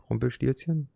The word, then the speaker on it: Rumpelstilzchen: Rumpelstilzchen?